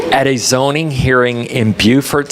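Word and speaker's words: Beaufort: a zoning Hearing in Buford South Carolina you do not pronounce it bordt in South Carolina I made sure not to do that and um just want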